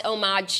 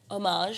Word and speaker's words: homage: Homage. Oh, that's homage. No, you said like a hard G. You said homage. I said homage. I say J, but I feel like that's an asshole.